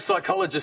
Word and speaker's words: psychologist: it day yeah like things like psychologist starts with a P that's cruel people that